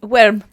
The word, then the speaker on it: wyrm: and it should be small and it's big, but this is worm spelled with a Y. Wyrm.